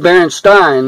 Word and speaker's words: Berenstain: I remember that because I said Berenstain, and my dad, he said, well, it's spelled like Berenstain. My dad's passed away now a long time. But Berenstain, and he said, it should like Frankenstein. And I said, no, it's Berenstain.